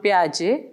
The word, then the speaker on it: Piaget: view of cognitive development also known as Jean Piaget as he is pronounced was one of the